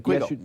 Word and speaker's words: Quiggle: Did I pronounce his name correctly? Quiggle?